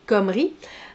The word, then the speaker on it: Comrie: Comrie, donc, pas conneries, Comrie.